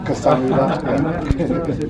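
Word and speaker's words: 감사합니다: Kasamida.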